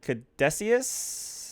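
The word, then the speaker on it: Caduceus: then you essentially um are shipped out to Cadesius. That is how it's pronounced. Oh, I wrote this down because I love the way it was. Uh, essentially it's the CDC. Yeah. Kaduciius. Kaducius.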